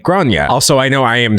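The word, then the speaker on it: Gráinne: yeah, it does say grain. But I guess the point here is this is not American English. It's not English at all. It's pronounced Grania and is Irish.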